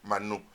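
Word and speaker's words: מן: idioma hebreo Manu no nosotros hoy le decimos Maná pero su pronunciaciones Manu Pero quiere decir qué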